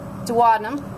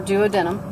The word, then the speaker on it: duodenum: okay esophagus again pancreas duodenum or duodenum your your choice on pronunciation that's about it for